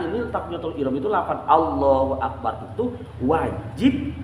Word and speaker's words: Allahu Akbar: Hunya ke bawah lagi Allahu bar batal harus sempurna Allahu akbar lafaz Allahu Akbar itu harus sempurna artinya harus terdengar dan panjang peneknya juga